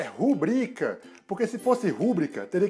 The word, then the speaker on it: rubrica: Então, lembre-se, a forma correta é rubrica e não rúbrica.